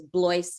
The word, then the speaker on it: Blois: a a quick correction my last name is blois you told us to correct you you got our name wrong okay but i thought i introduced you as boys if i didn't i